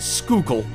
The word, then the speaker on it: Schuylkill: Around August 2015 on Route 61 near Schuylkill Haven in Pennsylvania, and believe it or not, that is pronounced Schuylkill, a worker was trying to dig up some dirt but dug up something else instead.